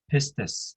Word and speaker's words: pistis: faith or belief it it is uh pronounces pistus in greek and you know what